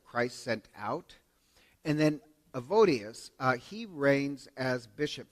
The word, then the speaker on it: Evodius: and then he ordains this guy named uh evades uh not I'm mispronouncing a evodius evodius to uh appoint him as bishop and